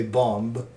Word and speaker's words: bomb: Like my wife always makes fun of me when I say bomb because it has a B at the end. So I say the goddamn B.